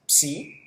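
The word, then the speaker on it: ψῖ: La siguiente es psi, el sonido es como una PS.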